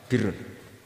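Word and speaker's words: بِرّ: Ya kalau di isim fa'ilnya umumnya guru-guru kita baca barin, tapi untuk masdarnya untuk kebaikan bacanya apa? Birun. Nanti kamu protes, oh barun itu daratan Gus, kalau birun itu kebaikan. Aku itu macaku kamus luwih suwi bocah kok sembrono.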